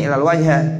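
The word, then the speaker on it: إلا الوجه: semua badannya, illal wajha, ya bacanya illal wajha, karena illa kan adat istisna.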